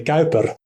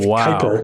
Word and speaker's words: Kuyper: So it's a little bit awkward with Bavinck, and also with Kuyper as well, because in Dutch you would say Kuyper instead of Kuyper, but or gymnasium.